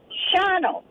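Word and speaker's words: Shawano: h a w a n o but it's pronounced Sho oh Shao yep oh very good to know sh okay so it's Shao shoh very good so anyway there iide from that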